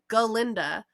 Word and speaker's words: Galinda: please and fun fact glinda's name is galinda but one of the professors mispronounces it so much in Wicked that that's how they that's how they then refer to her as Glenda because she is galinda that is her name and then one of